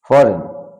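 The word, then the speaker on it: foreign: G letter will be silent যেমন সাই জি silent দস্তখত নো মানে চোষা ঋণ মানে রেইন মানে শাসনকাল ফরেন ফরেন মানে বিদেশ তো এই সমস্ত শব্দগুলোতে জি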